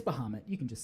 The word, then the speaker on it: Bahamut: There's the like fancy Final Fantasy VII pronunciation, which is like Bahamut. It's yeah. But either way, it's Bahamut.